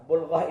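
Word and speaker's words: بلغة: Nah, bulghah ini ada bulghah, ada balghah. Hati-hati bacanya. Ini artinya beda sekali. Kalau balghah itu puncaknya kebodohan. Itu disebut balghah. Tapi kalau disebut bulghah, itu kekuatan untuk menahan penderitaan dalam kehidupan.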